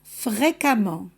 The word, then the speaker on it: fréquemment: ajoute deuxième ent fréquent fréquemment récent récemment suffisant suffisamment il n'y a pas de différence de prononciation entre le 2 suffixe c'est à dire on les prononce de la même manière fréquemment récemment suffisamment la